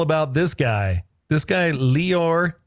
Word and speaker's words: Lior: This guy Leor not liar. People mispronounce his name. And we were we were instructed that that is not how you pronounce it. It's like Dior with an L.